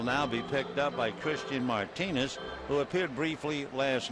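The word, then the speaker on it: Cristhian: looks like a misprint Christian you would think would begin C well with this Martinez it's c i then the H it's almost like you have a list when you pronounce it he's from the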